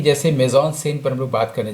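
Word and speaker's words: mise-en-scène: आपको जानकर आश्चर्य होगा कि इस टेक्निकल टर्म को मेजॉन सीन, जिसको एफटीआई के बच्चे कहते हैं, उसका एक्चुअल प्रोनाउंसिएशन है मेजॉन सीन।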